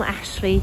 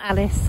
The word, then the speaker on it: Ashley: got considerably worse and it is Storm Ashley not storm Alice I stand corrected from